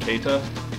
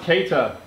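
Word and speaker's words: Keïta: Someone in the comments told me to tell Jimmy that his name is pronounced Keita. Hey, Jimmy, his name is pronounced Keita.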